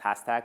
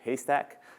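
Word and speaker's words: HASTAC: which I actually used to thought it was pronounced hashtag but then Kathy Davidson who runs his community was here last last week or the week before and then her pronounce it haystack so sha s ta see and there's a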